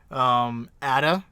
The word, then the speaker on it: Atta: Atta, as in attaboy.